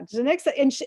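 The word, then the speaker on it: Janicza: Janica Bravo. Yeah. Yeah. Janixa, and I like, that's how you say it.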